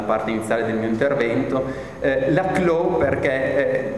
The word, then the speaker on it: Laclau: Laclau perché lui stesso vantava una origine francese, quindi preferiva farlo pronunciare alla francese Laclau, quindi probabilmente mi scapperanno entrambe le pronunce, insomma, portate pazienza.